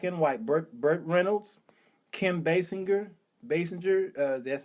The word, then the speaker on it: Basinger: Burt Reynolds, Kim Basinger, that's how you pronounce it.